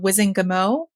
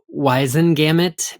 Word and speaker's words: Wizengamot: These were 2 members of the Wizengamot, or Wizengamot. I think we got some feedback from a listener recently suggesting we should pronounce the T. It should be Wizengamot because it was Whitengamot, but I will say